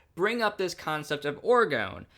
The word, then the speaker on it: Orgon: Orgon.